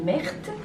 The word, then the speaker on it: Merthe: qu'il était belge, et il s'appelait monsieur Merthe, et on prononce toutes les lettres, et ce monsieur, lui,